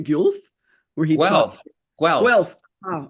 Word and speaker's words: Guelph: Gilbert is a professor emeritus at the University of, I hope I'm pronouncing this right, Guelph, where he taught... Guelph. Oh, okay, Guelph.